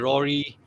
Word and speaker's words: Rory: name is Mm, not Rory, right? How do you pronounce it? it's like a Gaelic spelling Irish, so Uh-huh. it's Rory would be the correct pronunciation. The Rory. DH is silent, but I think for